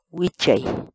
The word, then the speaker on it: wichay: de videos en la que te enseñamos a pronunciar algunas palabras en quechua Así que nuestra palabra del día por hoy es Wi la palabra quechua en español significa subir por